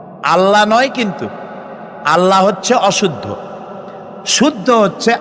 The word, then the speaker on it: আল্লাহ: অবশ্যই টেরান এটি আমাদের মনে রাখতে হবে তো আল্লাহ তাআলা তার উপরে আমাদের বিশ্বাস হচ্ছে এই যে